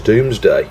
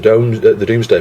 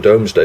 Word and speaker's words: Domesday: But I think the pronunciation is Doomsday. I do clearly remember my tutor at school saying, you know, it's the Doomsday project, not the Domesday project.